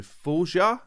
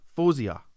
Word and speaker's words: Faouzia: check out the new Foia. Foia. I just watched a video of her pronounced her own name. Fosia. I'm pretty sure she said Fosia.